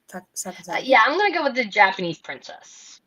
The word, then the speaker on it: Sakazaki: Sakazaki.